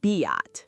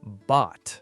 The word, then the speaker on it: bought: It is not biot. The correct pronunciation is bought.